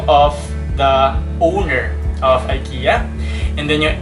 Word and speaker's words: IKEA: while others pronounce it as ikea the original pronunciation is actually ikea but the americans popularized yong long ai sound